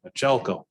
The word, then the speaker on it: Michelko: Natalie Michelko. And I talked to Natalie this morning and I know that's how you're supposed to pronounce that, Machelko.